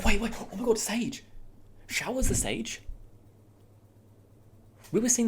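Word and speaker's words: Shaula: Shaola. That's how it's pronounced.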